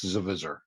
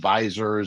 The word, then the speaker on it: Zvizzer: with the accent but yeah it's Z viser some people call it visor a visor but it's something like